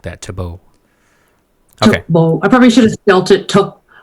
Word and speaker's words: Thibault: Your music in general, whether it's Minimum Chips or just Thibault.